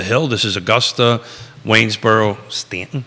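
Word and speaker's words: Staunton: this is Augusta Waynesboro Stanton Stanton staffy Stanton want to go Stanton Stanton is how most people pronounce it I say Stan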